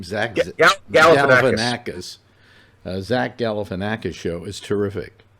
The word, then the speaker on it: Galifianakis: So far as television is concerned, the new Zach, how do you pronounce his name? Zach Galifianakis.